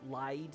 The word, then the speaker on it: Lyde: it's a bit harder to tell in the English version, but the Japanese is spelt like light, except with like a D sound instead. So it's for lied.